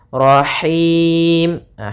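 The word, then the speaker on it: رحيم: biar rnya juga tebal Rahimah hati-hati dalam pelafalan Ha ini ini H kecil dari tengah tenggorokan kita rahim kemudian di ini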